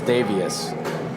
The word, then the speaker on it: Davius: so they have uh you said Davis Richard I'm going to say his name is davius davius okay there you